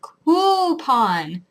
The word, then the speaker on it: coupon: people say coupon because there's no why in that word for you to make the u sound it's coupon there's no reason to say Q Kyu there's no reason it's coupon mayonnaise even though it's